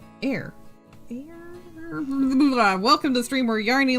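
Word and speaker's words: Eyre: Um, pronounced air.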